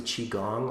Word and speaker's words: qigong: youtube channel is um wesley chi gong all one word qigong is spelled q-i-g-o-n-g so it's the traditional spelling and then i'm teaching